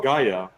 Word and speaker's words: Gaea: And Chop says that Dax pronounces it Gaia, so hey.